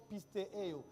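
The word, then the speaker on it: πιστεύω: Ça se prononce pistéo.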